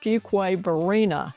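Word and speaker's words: Fuquay-Varina: First, it's pronounced Fugquway Vina and newcomers often get that wrong.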